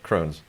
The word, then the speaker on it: Kroons: Kruns? No, Kroons. Who knows? Rhymes with prunes and Justice for All.